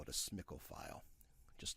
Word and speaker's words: SMCL: on and in parentheses SMCL, which Stata actually pronounces that as SMCL.